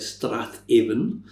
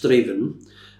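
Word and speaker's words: Strathaven: It looks like Strath Aan, but it's pronounced Straven.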